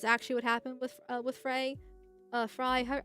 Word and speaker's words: Frey: Fry, I always want to call him Frey, because that's how it seems to be pronounced, but apparently it's not that.